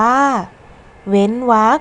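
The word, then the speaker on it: เว้นวรรค: อย่าง เช่น เว้น วรรค อ่าน ว่า เว้น วรรค ข้อ สังเกต ไหม คะ ว่า คำ ว่า วรรค ตาม หลัง รอ หัน จะ มี พยัญชนะ คอควาย ซึ่ง พยัญชนะ คอควาย อยู่ ใน มาตรา กก เรา จึง ต้อง อ่าน ออก เสียง เป็น เสียง ตัว สะกด ใน มาตรา กก ค่ะ และ อีก คำนึง คือ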